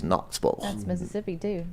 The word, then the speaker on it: Knoxville: It's not Knoxville. It's Knoxville.